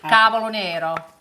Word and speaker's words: cavolo nero: cavolo nero, How do you spell it?